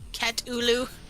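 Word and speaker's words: Katulu: did they spell it k-a-t-u-l-u like cat oolu how dare thank you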